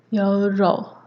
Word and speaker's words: 연료: and in Korean it's your role and I think it has like a weird pronunciation where it's written as like 연료 but then the ㄴ becomes ㄹ the second word is